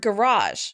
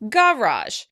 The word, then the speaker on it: garage: It's the word garage. The British stress this word on the first syllable, and they tend to really emphasize the difference in sound. They say garage, garage. In American English, we say garage, garage.